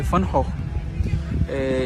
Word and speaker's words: Van Gogh: Uma coisa interessante, a pronúncia de Van Gogh em holandês, na verdade, é Van Gogh.